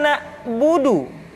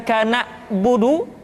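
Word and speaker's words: نعبد: Contoh, iyyaka na'budu, bukan kana budu, tetapi agak ditekan sedikit, kana budu, iyyaka na'budu.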